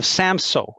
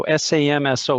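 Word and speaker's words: Samsø: up of europe is the uh region of samso and i i'll spell it out for folks if you want to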